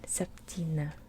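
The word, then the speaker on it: septyni: Remember that Y makes an E sound, right? Septina.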